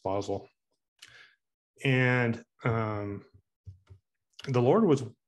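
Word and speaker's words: Basel: Ellen White was in bosel Switzerland I think that's how it's pronounced it's spelled like basil but I think it's pronounced bosel and um the Lord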